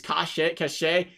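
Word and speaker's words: Kaše: It's Kashe. I like calling him Case.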